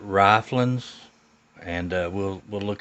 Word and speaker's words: Ryflens: to us uh uh i'm gonna pronounce it riflins and uh we'll we'll